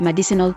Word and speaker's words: medicinal: But there is some evidence that in the past, some speakers used an alternative stress pattern for the word medicinal that resulted in the first I being unstressed and possibly left out.